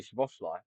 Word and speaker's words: Szoboszlai: they're gonna try suck your cock for the pronunciation of Szoboszlai. It's easy Szoboszlai.